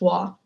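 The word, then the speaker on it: は: get into that today, is actually ha, like the letter ha, but it's pronounced wa.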